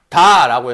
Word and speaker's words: 깊다: 내가 예를 들어서 깊다라고 했어. 이해했어? 깊다. 그러면 이 피읍은 발음될 수 있는 친구야? 발음이 될 수 없는 친구야? 없는 친구지. 그래서 뭐로 발음이 돼야 돼? 비읍으로 발음이 돼야 한다는 거.